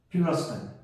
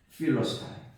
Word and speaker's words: Philistines: 그래서 영어로다가 발음을 하면 필러스타인. 앞에 액센트가 있습니다. 따라해 보겠습니다. 필러스타인이라고 해요. PH가 F자로 발음하지 않습니까? 필러스타인.